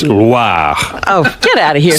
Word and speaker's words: Loire: Oh, I didn't Not roll the Loire. R. It's not LWA. Oh, It's Loire.